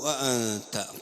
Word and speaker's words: أأنت: അപ്പോൾ ഇവിടെ ഖാലു അഅൻത, ഖാലു അൻത എന്നല്ല അഅൻത എന്നാണ്.